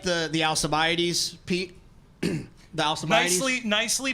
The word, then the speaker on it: Alcibiades: The Alcibiades. Nicely pronounced.